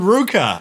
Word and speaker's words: RVCA: And there's a surf brand called Ruka, RVCA.